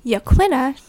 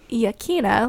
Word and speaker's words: Yaquina: melodrama so melodrama yes so Yaquina not Yukina like I thought pronunciation up for debate